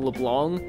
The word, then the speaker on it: Leblanc: yeah it's like um the pronunciation of the name like the c is kind of silent i'm trying to pronounce